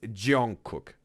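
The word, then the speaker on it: Jungkook: It's Jon Cook. Now I got it right. Thanks, Miguel, for helping me out to pronounce it right the right way. Not butchering Jong Cook's name.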